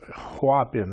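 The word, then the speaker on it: Hoabien: And it was H O Habin is how you pronounce it.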